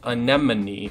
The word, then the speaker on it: anemone: also I just realized that an enemy it's pronounced anemone and I've being I've been saying to me